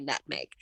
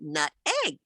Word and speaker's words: nutmeg: to save her life she couldn't say nutmeg because she was grew up saying nut egg nut egg that's how she pronounced it so she she